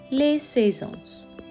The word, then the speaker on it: saisons: The seasons would be les saisons. Les saisons. Pronunciation will stay the same, we just add another S at the end.